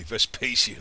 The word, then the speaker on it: Vespasian: stock like VES pacian probably saying his name wrong but there's another way to say that I think in Latin but I always say the English way Vespasian I don't know maybe